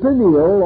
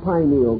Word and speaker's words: pineal: The pineal or pineal gland, either pronunciation is correct, located in the central part of the brain, still remains the mystery gland of the human body.